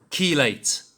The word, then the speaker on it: chelate: That's how you say it. Chelate. Key. Late. But it says chelate. It's chelate. Chelate.